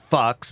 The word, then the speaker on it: Fuchs: I pronounce that Fox, but anyway, it's Fuch.